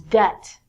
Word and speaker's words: debt: to give people money so it's not debit like debit card is debt next one is doubt